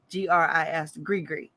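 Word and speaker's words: gris-gris: up how to print how to pronounce it because g-r-i-s-g-r-i-s grigri and he was like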